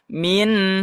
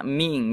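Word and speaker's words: مِنْ: Tidak dibaca min had ataupun qaumin had, tapi dibaca min had. Min tidak dibaca ming ya.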